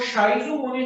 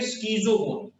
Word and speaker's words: schizogony: इसको शाइजोगोनी नहीं पढ़ेंगे, इसको हम पढ़ेंगे स्कीजोगोनी।